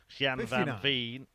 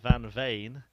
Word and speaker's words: van Veen: a little pronunciation lesson so I must apologize to the friends and family of van Veen see I've said it wrong again oh what a start again van vain it is Van vain rather than van Veen and Scott Williams 100.